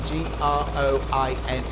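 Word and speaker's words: groynes: Oh, now it sounds the same as groin, but it's spelt differently, just so you know. It's not groins as in G-R-O-I-N-S, it's G-R-O-Y-N-E-S. But it still says groins.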